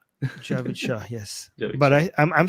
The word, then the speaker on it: Javid Shah: Armin won't let you pronounce it wrong. Javid Shah. Javid Shah, yes.